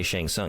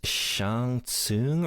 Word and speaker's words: Shang Tsung: go ahead because Raiden he doesn't say Shang Tsung he says Shang Tung or something of the sort I was trying to remember it's a weird like halfway correct pronunciation like like a kid